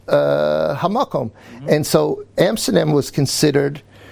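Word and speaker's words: המקום: And there are certain words, but one of them is very interesting, because the Yidden called Amsterdam Hamokim. That's how they pronounce it. It means the word Hamakom, right?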